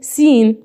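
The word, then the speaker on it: scene: حرف السي يا شباب مش هنطقه ايضا لو جه في اول الكلمه، مثل هنا اقول ايه؟ سين. ماشي، اقول سين. محدش يقول لي ليه ما قلتش سكين.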